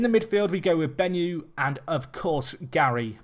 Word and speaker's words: Benyu: In the midfield, we go with Benyu and, of course, Gary. Benyu here, or Benyu, I should say. Is it Benyu? It's Benyu, Jack. You were saying it right the first time.